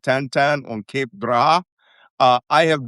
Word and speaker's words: Tan-Tan: hit a town called Tan-Tan. Not the cartoon Belgian. T A N T A N, not Tin Tin, T I N T I N. Tan-Tan. Even though they're both pronounced the same.